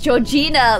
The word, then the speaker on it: Georgina: It's Georgina like the country. Georgia.